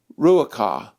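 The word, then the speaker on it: רוח: of wind and water the Hebrew word for spirit hairs pronounced rueake the word means breath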